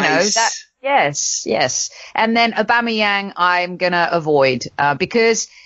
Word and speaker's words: Aubameyang: Aubameyang. Amanda, it's Aubameyang. Not Aubameyang. Not Aubameyang. Aubameyang. Easy.